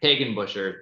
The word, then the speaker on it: Hagenbucher: Hagenbucher, if I got that right. Pronounced Hagenbucher, thank you.